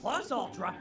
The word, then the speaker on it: Plus Ultra: you say plus ultra, you really gotta say it like a Japanese dude.